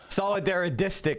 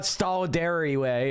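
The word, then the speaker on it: solidaristic: Solidaridistic is how you say that, Professor Wolf. Solidaridistic. It's very hard to say, I know, but it's not solidary way, it's solidaridistic.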